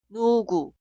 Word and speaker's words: 누구: Y la consonante inicial de la segunda sílaba suena parecido a G en gato. Puedes encontrar la respuesta en la próxima clase. ¿Pudiste pronunciar esta palabra? 누구, 누구, 누구.